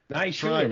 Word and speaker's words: Naishuller: So I feel like he and the director Ilya Naishuller, and listen, you heard me learn his pronunciation before this episode. I was Naishuller, man.